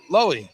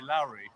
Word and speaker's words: Lowy: Pronounce my surname right, which is Lowy. yeah. Yeah. Normally, it's normally Lowry.